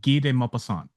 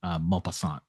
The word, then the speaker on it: Guy de Maupassant: Yeah, Guy de Maupassant. So Guy, it's spelled like Guy, Guy, and then DE, and then space, and then Maupassant, Maupassant.